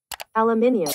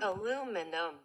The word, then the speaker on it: aluminium: Aluminum. So what is it then? She sound a little like she ain't even sure. One had the British accent, yeah, and the other had this American pronunciation.